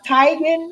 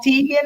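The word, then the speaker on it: Teigen: the girl named chrissy they say her name is pronounced titan it's not tegan i'm the thing that's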